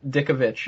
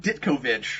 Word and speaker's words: Ditkovich: His name, Dickovich, is spelled D-I-T-K-O and then Vich. Oh, that's cool. Yeah. That's cool. So he's Steve Ditkovich.